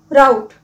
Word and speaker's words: rout: हमारा आज का वर्ड ऑफ द डे है RoUT और इसे हम प्रोनाउंस करते हैं राउट।